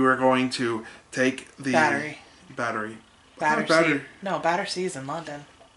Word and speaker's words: Battery: park in new york i always pronounced the battersea park in my head it's battery yeah so we went down